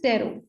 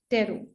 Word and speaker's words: tarot: हैं ठीक है तो इट इस तेरो ठीक है वो साइलेंट है पहले क्या था जो